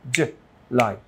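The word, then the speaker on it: July: তো এই লাইয়ের পর একটা স্ট্রেস আছে, স্ট্রেস মার্ক আছে, রাইট? তো যখন স্ট্রেস থাকে সেহেতু আমরা জুলাইকে উচ্চারণ করেছে জুলাই, জুলাই, জুলাই, জুলাই, রাইট? তো ওটাকে বলে স্ট্রেস। যেখানে থাকলে স্ট্রেস থাকে সেখানে একটু জোর দিয়ে ক্লিয়ারলি আর একটু জোরে পড়তে হয়।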